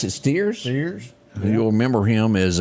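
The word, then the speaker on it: Stiers: shows that's the only reason as David you pronounce it steers Ste you'll remember him as um Charles wi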